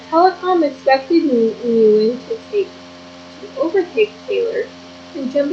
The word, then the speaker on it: Nguyen: Nguyen, pronounced Nguyen, is the most common name in Vietnam and the 8th most common in Sydney's new telephone book.